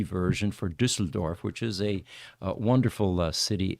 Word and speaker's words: Düsseldorf: And that is a U with an umlaut at the top. That's why it's Ü. If it was, in the German language, you have to pronounce every letter, consonant and vowel in only one way.